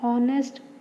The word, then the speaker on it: honest: Before a word beginning with consonant but having a vowel sound like an MBA, an R, an honest man. Here are H is a consonant, but H is silent.